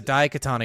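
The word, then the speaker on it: Daikatana: says find a new studio ion da Katana da Katana you're not that's why you're not saying it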